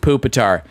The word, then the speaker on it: Pupitar: It is pronounced Pupitar.